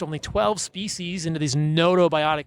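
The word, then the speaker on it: gnotobiotic: 12 species into these notobiotic mice right that's spelled gnoto and it means that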